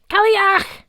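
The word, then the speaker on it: cailleach: In case you're curious, the word is pronounced ki, followed by clearing a large amount of mucus from your throat.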